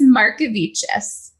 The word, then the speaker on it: Markevicius: this te Al be Brook how do you pronounced your last name correctly it's mariches mariches I mean that's fair that I had